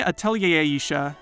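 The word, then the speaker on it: Atelier Ayesha: To me, Atelier Aisha, that is how it's pronounced, I checked, is a game that puts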